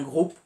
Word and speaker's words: Grup: décider de rejoindre un groupe qu'on appelle Grup, mais qui se prononce groupe.